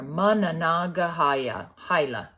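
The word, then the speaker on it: Monongahela: Mana the Manana gahala so that's pronounce it says on the bottom there managa hila whoosh baby River from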